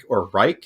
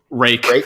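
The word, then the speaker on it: Ruike: certain companies like Tangram, Reich, how do you say that? Rake. No, that's not how you spell rake. It's rake. That's how it's pronounced. R-U-I-K-E is pronounced rake.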